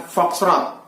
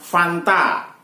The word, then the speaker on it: foxtrot: Huruf F mestinya diucapkan foxtrot, akan tetapi diucapkan Fanta atau sering juga diucapkan Fox.